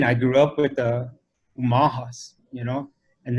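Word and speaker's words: Umoⁿhoⁿ: Umahas, you know, and this is how Right. you pronounce that tribe, with a U, not an O. So I live in the city of Omaha, but the Umaha is the people.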